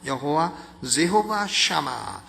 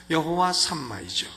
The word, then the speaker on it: 여호와 삼마: 있었느니라 이것이 여호와 삼마입니다 여호와 삼막 영어식 발음은 샤마 여호와 샤마 여호와 삼마이죠 예수께서의 마지막 자리 48장